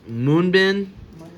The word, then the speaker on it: MUNBYN: saying it correctly but it's moonbin m mbin Moon bin m n BN m u n by YN and uh let's go ahead